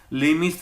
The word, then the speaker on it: Lami's: Lemie's theorem. इसको Lemie's theorem, Lamy's theorem, Lamy's theorem. So different pronunciations are there.